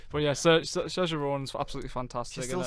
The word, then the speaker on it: Saoirse: I'm gonna have to try and pronounce this right. Saoirse. Yeah, I keep on saying Saoirse, but yeah, Saoirse Ronan's absolutely fantastic.